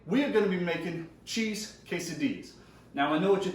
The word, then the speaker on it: quesadilla: joke haha today we're gonna be making cheese quesadillas now I know what you're thinking and don't that looks like it should be pronounced case of Dilla true but I have it on good authority